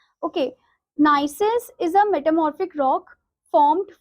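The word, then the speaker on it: gneiss: rock is is NCIS here the g is silent in this word okay nysis is a metamorphic rock formed from granite and it has irregular irregular bands of different colors so this niis is a type of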